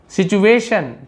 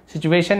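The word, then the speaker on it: situation: इतने में संतोष है सिचुएशन टी आईओ एन को शन पढ़ते हैं यह भी शन शन श है ना सिचुएशन यानी परिस्थिति जो स्थिति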